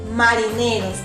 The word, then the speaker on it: marineros: Naturalmente tengo 8 ahora, pero la última palabra, marineros, ¿dónde lleva la mayor fuerza de voz? Muy bien, la mayor fuerza de voz está en la penúltima sílaba.